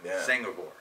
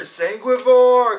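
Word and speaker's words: Sanguivore: I don't even know like carnivore that's how you say it yes it's like like you're saying carnivore herbivore sangore and so what blood sang blood eat sangore cuz the album is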